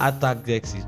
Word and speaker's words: Artaxerxes: Actors. King. Like Actor sexist. Artaxerxes.